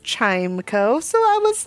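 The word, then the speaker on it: Chimecho: people have decided that the word they should have focused on in this Pokemon's name is the second part of this I don't know compound word uh spelled e c ho o and pronounced Echo but even so I am paying homage to the word echo in pronouncing the word chimco so I was like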